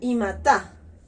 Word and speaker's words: imata: El segundo es con la partícula ta con acento y se pronuncia imata.